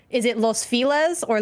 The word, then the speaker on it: Los Feliz: It's like, is it Los Feliz or Los Feliz? If you say it in Spanish, it's Los Feliz. But if you read it with the English pronunciation. It's Los Feliz, and it's like, what do people call it here though?